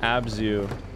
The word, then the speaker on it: abzu: it's a sumerian word uh maybe zu uh pronounced abzu which means ocean wisdom or to no water